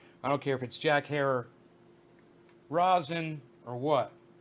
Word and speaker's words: Herer: the one that said Herer. And I'm like, oh, that's easy enough to remember. Herer. Okay. He says that's what Jack used to tell people to pronounce his name.